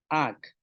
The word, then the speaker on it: áak: Ayin, lagarto, yaab, mucho, kai, pescado, ak, tortuga, al, pesado, ik, chile.